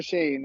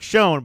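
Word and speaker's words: Schoen: um joe something shane joe shane shane joe shane um that's how you pronounce it it smells like shone but but it's pronounced uh shane exactly right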